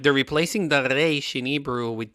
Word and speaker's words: reish: Spanish-speaking people, they pronounce the reish from the mouth. We in Hebrew pronounce the reish from the throat, so that's the main emphasis.